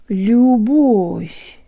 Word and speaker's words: любовь: Любовь.